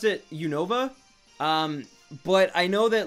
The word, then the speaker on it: Unova: it's very similar, but they pronounce it faster, so it's more like Unova region, but I pronounce it like Unova. Like, I really put emphasis on the Nova part of it, where I find most people don't, but I don't think